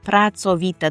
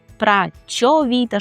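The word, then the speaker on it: pracowita: При вимові слова працовіта звертайте увагу на тверде цо працовіта. Дуже часто чую вимову якусь прачовіта, щось таке. Це в українській мові працьо, це м'ягеньке. А у польській це цо праца, працовіти, працьовітощ завжди твердо.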